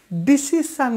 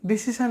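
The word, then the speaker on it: decision: ডিসিশান নিইনি, ডিসিশান এখনও নিতে বাকি আছে, সো ডিসিশান আমরা বলি, বাট ডিসিশান বলে কোনো শব্দ নেই, উচ্চারণ নেই, সেটা হবে ডিসিশন, সেটা হচ্ছে ডিসিশন, ডিসিশন মানে সিদ্ধান্ত, ডিসিশন।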